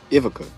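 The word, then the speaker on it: Ivica: because I mean you have IA uh Ivaka Ivaca is how you say his name.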